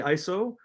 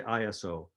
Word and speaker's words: ISO: uh some people say iso and some people say iso uh there's the reason there's two different ways to say this word is because there's two